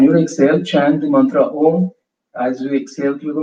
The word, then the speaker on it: Om: So the first two syllables of the mantra, Ah, U, as we exhale through the mouth, and the third syllable, when you chant the third syllable, when you close your lips, exhale through the nose.